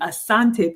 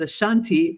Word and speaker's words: Asante: of the country and I come from the Asante people on my dad's side which has been pronounced as a Shanti by the British and Mr Richard if